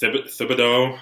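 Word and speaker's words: Thibodeaux: So Charles Cross, Kayvon, I think it's Thibodeau, I think is how you pronounce it, from Oregon.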